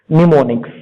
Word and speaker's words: mnemonics: M is silent. Okay, mnemonics.